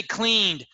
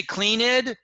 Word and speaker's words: cleaned: if you say like you don't say cleaned you say clean id okay if you say